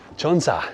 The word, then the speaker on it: 천사: 약 1,004미터이기 때문입니다 And in Korean, that sounds like ‘cheonsa.’ 한국어로 1004가 ‘천사’와 발음이 비슷해요 And cheonsa also means angel.